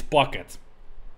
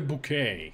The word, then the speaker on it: Bucket: wise men be pursuing so it's not pronounced like that it's bucket my name is pocket his pocket he has always be buck it never bouquet he's not that fancy so he's pocket you